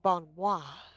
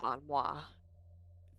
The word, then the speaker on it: bon mot: bon moi. It's actually Bon Mall. Bon moi. Bon Mall. Bon Mott. Bon man. Not mo. Bon Bon Mall. Mott. The T is silent.